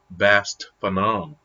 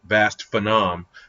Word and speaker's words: Vast Phenom: those that don't know on Instagram he's _ Bast Phenom Phenom but I've heard him pronounce it vast Phenom so don't tell him